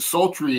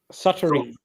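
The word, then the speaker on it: Suttree: I haven't watched it yet, but he claims that Sultry is his the best Cormac McCarthy book. Suttery. Suttery, I believe is how it's pronounced.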